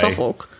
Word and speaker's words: Suffolk: It's definitely not pronounced that way. It's Suffolk.